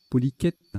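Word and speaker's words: polychète: Poliquette, ça se prononce, poliquette, un ver marin, non masculin ou féminin, d'accord.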